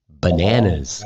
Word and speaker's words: bananas: Only bananas and coconuts. Bananas. Can you say that one? Bananas. Bananas. So maybe one banana. Two bananas. Got the Z sound at the end, huh?